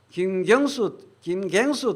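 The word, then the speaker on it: 김경수: 그래서 김갱수 도지사가 경남식으로 발음해야지.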